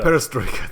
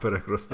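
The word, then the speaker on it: перестройка: to call it that so let me just hear a striker perestroika thank you not peregrity okay and and glasnosed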